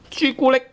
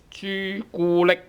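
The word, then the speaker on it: 朱古力: It's very common to use all tone 1s when we have derived words from English.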